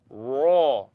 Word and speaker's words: raw: Raw. Don't use your lips to pronounce raw.